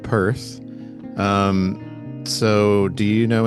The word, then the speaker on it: Perth: There's all there's all kinds of like inside meanings too that I was reading about where apparently Perth which rhymes with birth and then you go